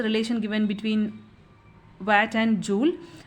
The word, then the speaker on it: joule: The SI unit of energy is joule. Some pronounce as joule, no problem. It is joule.